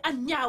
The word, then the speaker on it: Anna: damas la décence immédiatement arrête de m'appeler ania non non c'est anna o nous vivons ensemble depuis